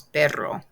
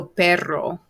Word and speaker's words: perro: it the word is perro and remember you want to try to roll your r by doing the word butter butter butter butter butter butter butter just keep doing that and after a while it will actually work i've taught students this